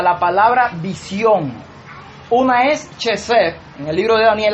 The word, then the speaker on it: Chesed: Por eso es esa palabra, Chesed, que se pronuncia así, pero es una K, una J, una E, una V, una E y una W al final.